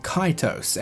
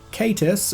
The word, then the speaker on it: Kaitos: Kaitos, or Kaitus, is Arabic for something along the lines of sea monster or whale. The pronunciation of this is pretty clear, it's definitely not pronounced with an I sound.